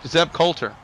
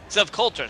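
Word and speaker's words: Zeb Colter: Uh his name is Seth or Sev uh Caldwell. C Zev Coulter. Zev Coulter saying it. Thank you. That that's the way they they was pronouncing it.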